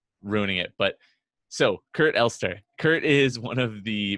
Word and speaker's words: Elster: Today's guest is Kurt Elster. Kurt is one of the most highly regarded How'd you independent pronounce my consultants.